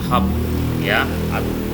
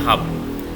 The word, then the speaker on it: hub: kita ada yang namanya hub bukan hope ya bacanya HAM jadi in English kalau ada tulisan u ini bacanya rata-rata a seperti Cangkir itu kan cup tulisannya tapi baca Cup nah ini juga sama bacanya dari Hub Ada lagi namanya router